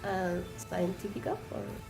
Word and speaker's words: CientifiKOF: member, yeah, CientifiKOF. Did you Couple just of pronounce guys, that scientific?